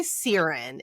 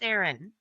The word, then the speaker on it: Sarin: At the center of it all is I say Sirin. Is that the correct way to say our female main character's name? It's not, but I kind of like it. How is the correct way? No, it's it's Sarin.